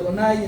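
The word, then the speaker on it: Adonai: que está ahí es Yudba se pronuncia Donay, entonces algunos lo incluyen eso.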